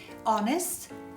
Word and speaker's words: honest: Ci sono solo 5 eccezioni in inglese di parole che iniziano con la H dove la H è muta e sono our, allora, honest, honor, heir and heiress e i loro derivati.